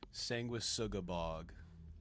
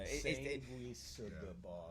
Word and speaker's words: Sanguisugabogg: So for the record, for the UK fans, what is the correct pronunciation of it? Sanguisugabogg. So if you slow it down, it, you know, Sanguisugabogg.